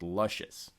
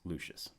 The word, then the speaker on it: Lucius: had a sneaking suspicion that it was actually pronounced luscious well miss degeneres confirmed for me that it is actually pronounced lucious lucius is probably a more popular artist than